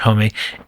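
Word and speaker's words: Homme: Homie. Homie. Is it Homie? Is it actually? I always thought it was Hom. Oh well. Everybody Everybody does. Yeah. Let's just go with Josh Homie.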